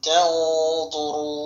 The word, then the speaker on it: تَنْظُرُونَ: ওয়াও টেনে পড়তে হবে, নুন সাকিন না তানজুরুনা ওয়াকফের সময় নুন সাকিন হবে, আর এখানে তিন আলিফ টেনে পড়তে হবে। এখানে যে মদ হয়েছে মদের নাম তিন আলিফ মধ্যে আরদি উচ্চারণ হবে।